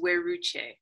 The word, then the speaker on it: Weruche: can imitate that so please my name is we're Ruchi where would she go there we go so